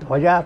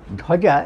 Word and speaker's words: ধ্বজা: এইখানে ধয়ের পেছনে যে বটা আসছে সেটা হচ্ছে অন্তস্থ ব, তার উচ্চারণ হয় ওয়া, ওয়া বলে, ধোয়া যা, ধোয়া যা, ঠিক আছে, এইভাবে উচ্চারণ হয়।